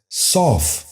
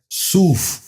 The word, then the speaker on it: صوف: غور سے سنیے، ثواب۔ 10واں اور آخری لفظ ہے صوف۔ یہ غلط تلفظ ہے، درست تلفظ ہے صوف۔ دوبارہ سنیے، صوف۔ بچوں